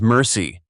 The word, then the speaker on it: MRSI: Multiple rounds simultaneous impact, MRSI, pronounced by crews as mercy.